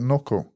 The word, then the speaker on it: Nocco: Is it not no cocoa or is it Noco? I don't know. Let's see it. How does it spell? Nocco. Oh yeah, it's spelled Nocc. It's Noco.